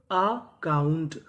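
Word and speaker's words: account: जैसे यहां पे जो ए लिखा है वो आ का काम करेगा। तो मीनिंग क्या बनी? अकाउंट अकाउंट अकाउंट का मतलब होता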